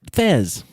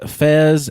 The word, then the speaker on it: Fez: Oh, it's actually FES, and they pronounce it as a Z, and it stands for foreign exchange student, but they never actually discuss that.